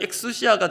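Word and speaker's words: ἐξουσία: 여기서 이 권세라고 번역된 헬라어 원어가 참 의미가 깊은데요, 무엇으로부터라는 전치사 발음은 에크가 되고요, 그리고 본질을 뜻하는 우시아, 이게 합쳐져서 헬라어 발음이 엑수시아가 됩니다.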